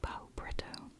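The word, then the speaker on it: Pau-Preto: Bonesmith by Nikki Paul-Preto. I say Paul because it's spelled like Paul, like stick in Portuguese.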